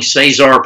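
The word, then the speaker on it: Cesar: said at the beginning say czar Perez spelled like Caesar Caesars recover ECE si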